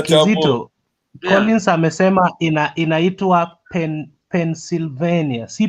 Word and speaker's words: Pennsylvania: Collins amesema inaitwa Pennsylvania, si Pendoslavia venye No, unasema it's Kizito. Pennsylvania. It's pronounced as Pennsylvania. Pennsylvania. Yeah, ndio nilikuwa nawaambia hapa, nyinyi mnaita Pendoslavia.